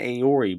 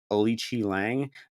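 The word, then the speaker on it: Aoriqileng: We used to call this guy Aori, but now I'm officially respecting the Chinese pronunciation of his name, Alichi Lang, because this dude is actually not a bad fighter.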